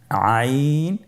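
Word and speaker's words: عين: আইন হরফটি উচ্চারণের সময় অবশ্যই তিন আলিফ টেনে পড়তে হবে। এখন আইন হরফটি বারিক হরফ। পাতলা করে পড়তে হবে।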